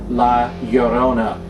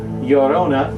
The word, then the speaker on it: La Llorona: La Llorona is Spanish. Now that's spelled La, obviously L-A, and then Llorona is spelled L-L-O-R-O-N-A. That's L-L-O-R-O-N-A, Llorona.